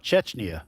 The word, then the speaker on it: Chechnya: How do you pronounce it? Chechnya. Chechnya.